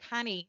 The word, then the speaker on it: Canny: Canny, that rhymes with Fanny.